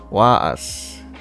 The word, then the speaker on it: was: Was is pronounced was. Like that, was. So but W is V, right? So it's was.